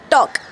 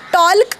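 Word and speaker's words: talk: तसच हे शब्द बघा टॉक म्हणजे बोलणे आता याला टॉल्क नाही म्हणत आपण एल सायलेंट होऊन जातो आता चॉक म्हणजे खडू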